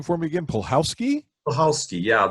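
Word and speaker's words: Puchalski: name for me again polkowski yeah it's um p u c h a l s k i but the um the c is silent i learned and i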